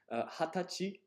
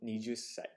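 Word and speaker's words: 二十歳: The age 20 is kind of special. It has two pronunciations. Hatachi. And, well, you could just say the traditional 20歳. 20歳. Okay? I was taught in one textbook, this author said that you must always say hatachi, never nijusai.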